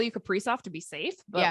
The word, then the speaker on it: Kaprizov: to the Wild, everyone thought it was Kaprizov. And then like once he was signed, like I don't remember who, maybe Russo tweeted, somebody tweeted, they're like, actually the correct way he's saying to say his name is Kaprizov.